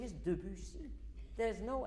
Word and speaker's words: Debussy: And it is also Debussy and not Debussy, because people want him more beautiful than he is. He is fine, and his name is fine. His name is Debussy.